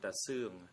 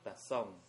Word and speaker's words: Ta Seung: By 1975, I was promoted to the regiment commander, and I was appointed by Ta Seung, not Ta Song. Thank you for correcting my poor pronunciation.